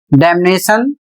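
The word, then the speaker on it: damnation: अगला शब्द है डैमनेशन, इसमें भी N बोला जाएगा, M भी बोला जाएगा, यानी दोनों अक्षर बोले जाएंगे M और N सभी शब्दों में।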